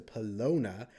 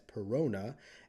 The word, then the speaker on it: Perona: And then we got introduced to Pelona. Actually, on the Discord, I was told that it is more properly pronounced as Perona, and I'm just referring